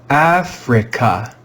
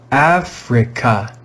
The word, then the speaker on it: Africa: on your screen africa africa africa you can hear that the stressed syllable is f the vowel i is in a syllable that is not stressed therefore it's red with the short i sound e we've learned